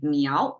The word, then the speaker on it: 猫: this cat symbol is meow pronounced as meow Rising tone and Chinese we just